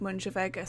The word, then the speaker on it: Mooinjer Veggey: And I say that because it's sort of written like Arcan Sonny, but Moonship Veggey was written as like Mooinjer Veggey, but I think it's pronounced like Moonship Veggey, so I think this is also pronounced as Arcan Sonna.